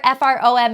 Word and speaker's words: from: is crazy just remember F ROM is from it's such a weird word they don't need that they only need to remember one teeny tiny weird part the O is representing a in from so these kinds of